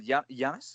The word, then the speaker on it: Giannis: Another one is you're singing Giannis.